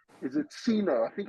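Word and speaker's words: Gcino: silent G is it Ceno I think it's Ceno Ceno okay I think it's Cen I think the g is silent and you pronounce it Ceno okay uh is Ceno and I meeting today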